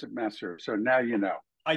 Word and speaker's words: Masur: I've heard many many times as as is merer Missour I mean all kinds of things but we pronounce it masser so now you know I do AP don't